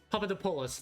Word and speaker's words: Papadopoulos: Last name is pronounced Papadopoulos. Papadopoulos.